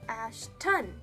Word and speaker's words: Ashton: meet you and I'm like no not Ashley Ashton and I have to Ann iate the ton